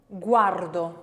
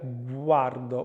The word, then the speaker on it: guardo: For example, guardo, can you see the lips moving for that? Guardo, bilabial, glide voiced, guardo.